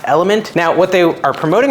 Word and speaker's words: LMNT: way to do that it's spelled l m NT but announced element now what they are